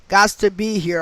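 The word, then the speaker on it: Gostisbehere: okay stoneman douglas alumni alum flyers shane augustus beer i can't pronounce that i'm gonna spell it so the name is shane s-h-a-y-n-e last name g-o-s-t-i-s-b-e-h-e-r-e gots to be here i guess flyers shane gots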